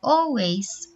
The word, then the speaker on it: always: Jadi ada huruf A, tapi kita bacanya agak ke O ya. Jadi always, always artinya selalu.